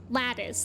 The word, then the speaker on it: lattice: be pronouncing it differently it's lat lattice like l a t t i c e like when you're like a fence or something has lising it's like